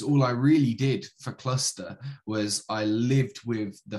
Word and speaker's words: Clusta: Clusta.